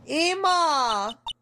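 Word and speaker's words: Ema: Yes, Emma to rhyme with Mia.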